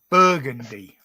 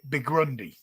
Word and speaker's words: burgundy: Burgundy, the colour burgundy. Yeah. I always called it Bigrundy.